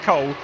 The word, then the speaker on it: Cool: What a great name that is, particularly as we've got Michael Cool on the grid as well. We've got Hott and Cool, although I'm told it's pronounced Cole, but it is Damir Hott